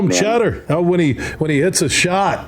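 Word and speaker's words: Tschetter: When you look at the way his name is spelled, T-S-C-H-E-T-T-E-R, that name, if you don't know it, could get you thrown out of radio. That's a bunch of silence in there, that's for sure, man.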